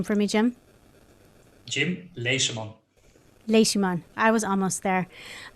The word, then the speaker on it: Leseman: everyone listening we have been speaking with jim les dumont i i always butchered we were talking before we got started